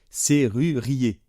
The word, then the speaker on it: serrurier: deux r serrure hein serrurier surier et faites bien attention le r final ne se prononce pas parce que le E